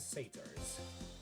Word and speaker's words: satyr: Centaurs and satyrs. I guess the next war will be less rich in magical creatures. Centaur, strict vegan. Satyr, it's pronounced satyr.